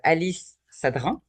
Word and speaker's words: Alice Sadrin: On est là pour les rendez-vous de The Connection avec Alice Sadrin. Je le prononce bien, j'espère.